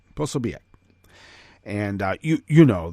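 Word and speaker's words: Posobiec: you know a nose thing but it is posobiac possibiac and uh you you know the uh right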